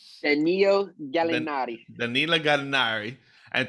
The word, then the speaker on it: Danilo Gallinari: How do you pronounce his name? Donald Gallinari? Danilo Gallinari.